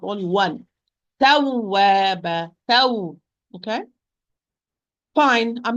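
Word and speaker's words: تَوَّابًا: That I'm going to give a push of the sound when I am pronouncing the waw with shadda. So I'm going to say tawwaba, taw.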